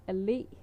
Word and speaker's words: allé: Like you put the pressure on the last letter in avenue, where you yeah.